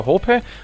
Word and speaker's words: Hohpe: This time we have a guest, which is Gregor Hohpe, or how do you pronounce this for the American audience?